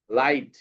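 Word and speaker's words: light: আই জি এইচটি তো আমি বলছিলাম না যে আই জি এইচ এই আই জি এইচ যদি থাকে তাইলে এই জি এইচটা সাইলেন্ট হয়ে যায় শুধু সাউন্ড হয় আই এই আই জি এইচ থাকলে আইটা সাইলেন্ট হয়ে যায় শুধু থাকে আই তাইলে কি হইলো ল আই আর এটা তো সাইলেন্ট ল আই থ লাইট লাইট ল আইট লাইট ঠিক আছে আর এটা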